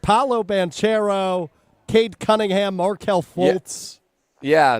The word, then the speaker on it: Banchero: 22 was Paolo Banchero. Banchero, actually, I think is how you say that.